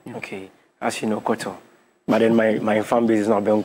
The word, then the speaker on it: Khortorh: As you know, Koto. But then my fan base is not Ben Kwayo in group. So Koto is spelled KHORTORH.